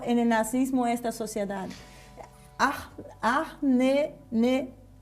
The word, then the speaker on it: Ahnenerbe: Ahnenerbe, así, Ahnenerbe, ahí está, bien pronunciado.